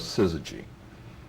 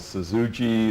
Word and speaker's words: syzygy: and the fact that nobody could pronounce it or spell it didn't seem to bother us and uh people called us suzuji and suzuji and and we thought